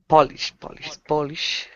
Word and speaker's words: Polish: So, in both words, the first syllable is emphasized, but the vowel sound changes a little bit. The first one is an O sound, Polish, and the second one is more of an open ah sound, Polish, Polish, Polish.